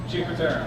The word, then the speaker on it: Cinque Terre: Well, not necessarily all the time, except for maybe hiking in Cinque Terre. Is that how you pronounce it? Cinque Terre, yeah.